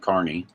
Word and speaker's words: Kearney: And then once we leave Lexington, we will arrive in Kearney, pronounced Kearney, Nebraska, which is 35 miles east of Lexington.